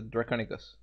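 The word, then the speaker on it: draconequus: something on no it was a misplaced a draconus is that how you pronounce it whatever it may be yes that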